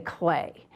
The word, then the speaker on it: Klee: Now, Paul Klee, remember we learned that his name is spelled K-L-E-E, but we say clay.